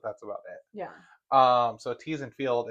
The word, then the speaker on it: Theesfeld: So Theesfeld, it's actually spelled like my last name, Theesfeld. Yeah. But instead of pronouncing the Feld, we did Field because we do a lot of agriculture stuff.